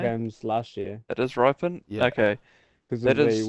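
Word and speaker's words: Rypien: Sam, how do it's you fell in a pronounce his couple of name? games last year. It is Ripon?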